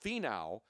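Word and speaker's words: Finau: Toni thin now but it's it's but it's pronounced fie now ven o w but it's spelled fi na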